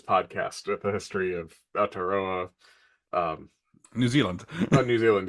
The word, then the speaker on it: Aotearoa: One thing with listening to like Thomas's podcast with the history of Aotearoa, um New Zealand. New Zealand, yeah. Uh did I even pronounce that right? Aotearoa, yeah, you did.